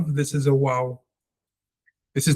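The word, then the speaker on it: ו: So without getting into language politics is not for Israelites, neither is vav. It's wow and raetsim.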